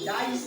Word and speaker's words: dice: और यहाँ पर ई को उच्चारण नहीं करना है और सी के बाद में ई है तो सी का क्या हो जाएगा? स हो जाएगा।